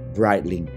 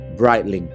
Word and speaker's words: Breitling: Padahal cara baca yang benar adalah Breitling. Sekali lagi, Breitling.